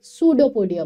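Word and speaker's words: pseudopodia: इसकी body jelly like है, इसकी शेप इरेगुलर है और इसके पास फिंगर लाइक प्रोजेक्शन है जिसको हम सूडोपोडिया बोलते हैं. यहाँ पर पी साइलेंट होता है और इन सूडोपोडिया को हम फॉस्फेट भी बोलते हैं.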